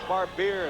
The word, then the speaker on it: Barbier: Jeff Barbier is how you say that one. I've butchered a few of these names, I think, in the last couple of days.